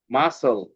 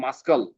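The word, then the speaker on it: muscle: সি আর সিজারস এস এইযে সি এর sound silent হয়ে গেছে সিন তারপর এখানে সি এর সাউন্ড হয়ে গেছে মাসল এমনি কিন্তু হয়তো এরকম যদি আমরা পড়তাম তাহলে হয়তো মাসকাল বাট কিন্তু এটা মাসকেল হয় নাই।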